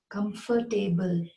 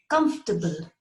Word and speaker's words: comfortable: And I have often heard people say comfortable. No, it is not comfortable. It's not table. It's comfortable.